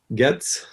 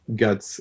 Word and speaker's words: Goetze: we have linda getz trying to use the american and a bit of spanish pronunciation good says okay i guess i i prefer to get from the origin but i understand the american guts it's okay as well so linda is a